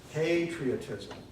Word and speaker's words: patriotism: what you were saying it's a long a not a short I'd we're saying Catholicism